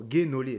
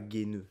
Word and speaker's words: Guénolé: Apparemment, Guénolé, pas Guéneux, Guénolé, pardon, excusez-moi, monsieur Guénolé.